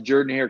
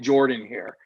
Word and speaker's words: Jordan-Hare: By the way, it took me about a month to pronounce Jordan-Hare correctly before an SID pulled me aside and said, look, if you're going to cover the team, stop calling it Jordan-Hare. It's Jordan-Hare.